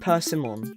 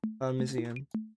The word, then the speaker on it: persimmon: No, it's Persimmon, not Parmesan.